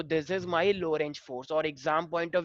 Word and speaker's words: Lorentz: बार पूछा गया है लो रेंज फोर्स, बट ये बहुत इजी है। Lorentz force में T silent है. हाँ लॉरेंस। लॉरेंज, हाँ टी साइलेंट, ठीक है, लॉरेंज थोड़ा आराम से बोलो, कुछ और ही बोल दो कहीं।